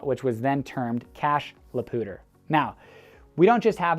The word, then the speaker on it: Poudre: our pooter river so coming in from out of state and immediately starting to talk about poudre high school or poudre school district or cachet la pooter you are just gonna people are gonna turn their heads this person's from out of town now that's not a